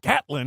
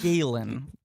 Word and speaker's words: Galen: I was like looking at the cast list and I went, Gatlin? Who the hell is Gatlin? I said Galen. You said Gallon. I don't pronounce things well.